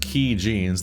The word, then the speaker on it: Kaijins: Kaijins, pronounced Key Jeans, there we go, was a medical company with operations in both the US and China.